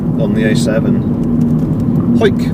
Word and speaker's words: Hawick: But also it avoids going through Hoyk on the A7. Hoyk, which is spelt Hawick, Hawick, Hawick, but it's pronounced Hoyk, because there was some